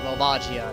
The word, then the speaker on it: Volvagia: Subterranean Lava Dragon Volvagia. Or Volvagia, depending on how you want to pronounce it.